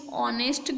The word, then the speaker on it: honest: So here is also we see the H letter, but the H is here silent letter, so we using N, because when we speak like this word, that is honest girl, so we using a N article.